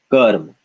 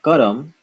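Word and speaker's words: कर्म: This would be karm, karm. Not karam, but karm.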